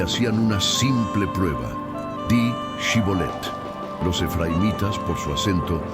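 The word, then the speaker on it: Shibboleth: Di Shibolet. Los efraimitas, por su acento, no podían pronunciar la sh y decían Shibolet.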